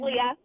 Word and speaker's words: Leah: Is it Leah or? It's Leah.